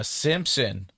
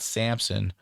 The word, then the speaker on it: Simpson: It is Simpson, Rick Simpson oil, not Samson.